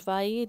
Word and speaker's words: Fay: Hablamos de Institutos FAI, tiene una página web, el FAI se escribe F-A-Y, ¿qué significa?